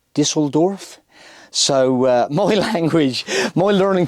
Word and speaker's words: Düsseldorf: Like I say HYMER and it's HYMER, and Dusseldorf is Düsseldorf.